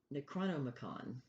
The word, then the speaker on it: Necronomicon: It's called the Necronomicon. You have to say it like that.